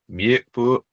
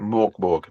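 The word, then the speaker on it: Mörk Borg: Morkborg. I Mjuk feel like Fury. I feel like you said it right the first time. It's because of the umlauts on top of the Yeah. O.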